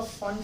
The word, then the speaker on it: Pfund: तो ये आपका फंड सीरीज उसको बोलते हैं। पी इसमें साइलेंट होता है, PFUND, फंड सीरीज।